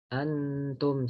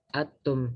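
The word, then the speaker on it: أنتم: Jadi misalnya nun sukun bertemu ta, misalnya antum, misalnya kan antum gitu, kita nggak boleh membacanya atum. Nah, kalau atum berarti itu kan diidghamkan, maka tidak boleh diidghamkan.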